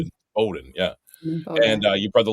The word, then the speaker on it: Bowdoin: Your dad, baseball and hockey at Bowdoin. That's how you say it, right? Not Bowdoin. Yeah. Bowdoin.